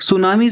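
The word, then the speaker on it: tsunami: पहली बात तो ये वर्ड ही जापानीज़ वर्ड है जिसमें टी साइलेंट होता है और हम इसको सुनामी कहते हैं।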